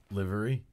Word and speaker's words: livery: you pronounce it here's the word I'm gonna spell it it's L IV ery it's library livery Craig is correct that cannot be read delivery